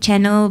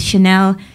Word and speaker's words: Chanel: Levi's Chanel of course some people pronounce it channel but you know we know it's Chanel you've also gotten other